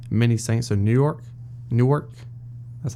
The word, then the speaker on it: Newark: going to be many Saints in New York Newark that's how you say it I'll really like